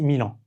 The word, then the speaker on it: Milan: Donc on dit Milan.